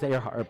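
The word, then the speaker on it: Earhart: That's how but it is earhe heart, but it's it's spelled like ear heart.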